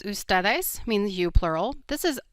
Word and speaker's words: ustedes: Both are pronounced ustedes.